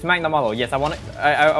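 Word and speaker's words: Magnamalo: i was saying i i i got the name wrong it's magnamollo yes i wanna i i want i want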